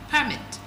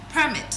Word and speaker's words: permit: Now remember um we have two ways of pronouncing this word. Permit like I said is an official document giving someone authorization to do something while the other one is permit allowing someone to do something right those are two different meaning but um different pronunciation.